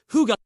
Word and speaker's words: hygge: The answer lies in one beautiful word: Hygge, pronounced Hygge.